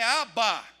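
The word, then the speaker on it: אבא: aí o gesto da palavra pai na pronúncia Hebraica é ABA e agora profundidade do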